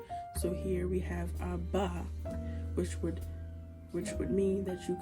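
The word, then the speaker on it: אבא: These are both very much appropriate, and they both sound the same, and understand that this is pronounced Abba and not Abaha.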